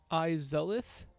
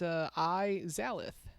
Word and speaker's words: Izalith: Izolith. What did I say? No, it's spelled Izalith. It's Izalith.